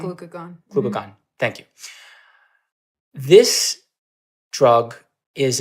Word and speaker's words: glucagon: insulin or glucagon am I saying it right glucon glucagon glucagon thank you this drug is a glp1 Agonist